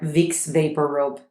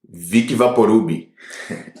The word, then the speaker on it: Vicks VapoRub: Então, amor, como você vai falar Vicks VapoRub em português? Vic Vaporub. Imagina, é tão diferente, gente. Se você usa a pronúncia do português para falar Vicks VapoRub, ninguém vai entender.